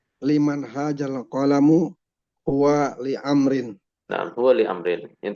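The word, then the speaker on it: عمرو: Tujuannya untuk membedakan antara Amr dan Umar. Coba kalau misalkan nggak ada wawu, maka orang-orang yang nggak paham, misalkan ada orang namanya dia bukan Umar tapi Amr ya. Jadi kan sama-sama ain juga. Maka cara membedakannya untuk yang Amr dikasih wawu.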